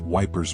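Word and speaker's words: Ypres: The Wipers Times was one such publication, created by English soldiers near Epernay, Belgium, pronounced Wipers by them.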